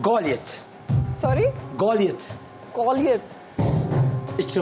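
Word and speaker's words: Goliath: ये गॉलियत। तो उर्दू में गलैत नहीं बोलते? गौलैत खेले, चले गौलैत खेले, वैसे इसका सही प्रोनाउंसिएशन है गौलियत, लेकिन आप गौलैत खेले।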